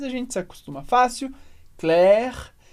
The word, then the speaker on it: Claire: super importantes do francês primeiro que as letras a i como Regra geral vão dar o som e como se fosse em português escrito com a letra e é por isso